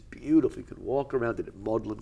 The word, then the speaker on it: Magdalen: could walk around it maudlin College which is the way the British say Magdalene bluntly as it very